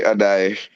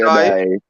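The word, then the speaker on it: Addai: Corey Adai. Adai. Right. Oh, that's spelled Addoi. Yes, I think that's how it's spelled. Yes, Adai.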